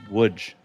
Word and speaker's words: Łódź: Now, that is spelled Lodz, but it is pronounced Łódź.